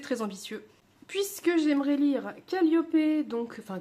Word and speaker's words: Calliope: Puisque j'aimerais lire Calliope, donc, enfin Calliope, je sais pas pourquoi je dis Calliope, je pense que j'ai encore la prononciation anglaise en tête à cause de Southern Ships.